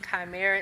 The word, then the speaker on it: Chimera: is on YouTube um Lauren chimer so it is spelled l a r e n apostrophe s Chimera is c h i m e r a